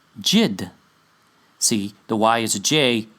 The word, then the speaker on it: Yid: cognate with the Yiddish word for Jew yyd which is really pronounced jid see the why is